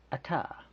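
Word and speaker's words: Atah: Alright, Ata, et, like kind of like an Ozark statement, like he ate the whole dang thing, ma.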